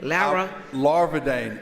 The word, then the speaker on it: Larvadain: Representative, how do you pronounce that last name? Larvadain.